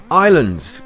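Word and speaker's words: Ylands: Islands came out, or they showed us a bit more about it, although it's spelt Y lands. It's the Y apparently stands for your lands.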